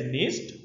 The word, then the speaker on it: NIST: and Technology g n so sometimes I may pronounce that as nist or n so it was established